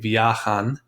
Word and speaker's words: viajan: Notice I'm putting the stress on that A. Viajan en un avión rojo.